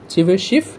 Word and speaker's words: Tchebycheff: topic এমন কিছুই না প্রথম কথা হচ্ছে এটার যে প্রোনাউন্সিয়েশন হবে সেখানে টি সাইলেন্ট থাকবে ওকে চিভশি ইনিক ক্লিয়ার চিভশিফ ইনিকয়ালিটি তবে হ্যা এই